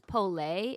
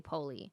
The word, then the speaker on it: Polé: Well, what's funny is everyone mispronounces the last name because technically I'm pretty sure it's Polé. It's Oh. French, but like my in-laws don't say that. They say Poli.